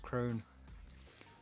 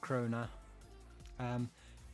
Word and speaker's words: Krone: Same with Krone. It's just Krone and not Krona.